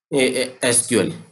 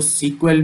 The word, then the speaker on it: SQL: Officially pronounced bye एसक्यूएल। ठीक है? ये सीक्वल इसको हम मैंने अभी बताया जैसे कि हम इसको सीक्वल भी कहते हैं, एसक्यूएल भी कहते हैं।